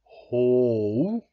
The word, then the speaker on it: Hou: Anders is saying that who is pronounced ho, ho. That just sounds weird. I don't know if I'm mispronouncing what Anders says is the right pronunciation, but I'm gonna stick with who.